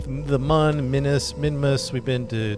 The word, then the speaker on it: Mun: It's pronounced mun. Yeah, for you Kerbal people it's mun.